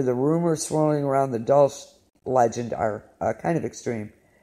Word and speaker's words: Dulce: I'm not sure if I'm pronouncing that correctly. It's Dulce.